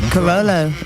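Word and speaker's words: Carolla: Carollo. She said it right. See that, Drew? I screwed up your ears I there. heard Corolla again. Yeah, because you were saying it like a mantra. Corolla, Corolla, Corolla.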